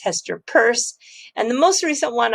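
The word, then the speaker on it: Hester Peirce: say siam commercial bank and please don't say hester pierce it's hester purse and the most recent one i i learned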